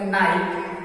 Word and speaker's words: know: KNIGST, तो इसको पढ़ेंगे नाइट, K साइलेंट होगा। उसी तरह से नी, KNEE, तो यहाँ K साइलेंट होगा, नी हुआ। उसी तरह नो, KNOW, तो K साइलेंट हो जाएगा और इसका उच्चारण नो।